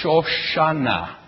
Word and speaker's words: Shoshana: The English name Suzanne in Hebrew, Shoshana. And so you can hear as soon as you take the SH and turn it into an S, you've got exactly the same word, same name.